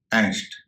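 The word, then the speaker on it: angst: इसका उच्चारण हो रहा है एंग्स्ट, ए का उच्चारण हो रहा है ए।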